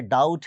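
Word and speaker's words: doubt: डाउट है, बी नहीं पढ़ रहे।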